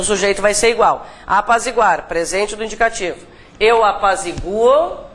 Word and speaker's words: apazigua: Gente, a pronúncia forte está aqui, tá? Não apazigua, né? Apazigua. É bom, aqui a sugestão é que você sublinhe a sílaba tônica, né?